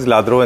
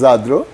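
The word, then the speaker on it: Lladró: World, you said that we call it Ladro and they call it Zadro. Yes. Is it right? Yes. What is the right pronunciation? The right pronunciation is Zadro. But as a layman, everybody calls it Ladro.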